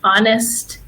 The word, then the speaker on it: honest: And then we also have the silent H, just like in Spanish, honest and hour.